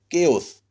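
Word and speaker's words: chaos: लेकिन यहाँ देखिए केओस, हलचल मच गया, केओस। CH से यहाँ के का उच्चारण हो रहा है।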